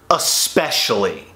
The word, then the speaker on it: especially: First off, there's no X anywhere in that word. It's not E-X, specially. There is a C in the word, but it's the fifth letter. And that C makes the S sound, not the X sound.